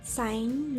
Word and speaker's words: sign: When G comes before N or H, it is silent. Mean that G के बाद N या H आता है तो G नहीं बोला जाता है. For example, sign, night, high.